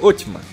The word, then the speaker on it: Osman: O nome otomano vem do fundador do império, Osman, que em turco era pronunciado Otman.